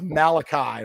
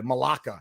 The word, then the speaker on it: Malachi: My man's name is Malachi Malaka.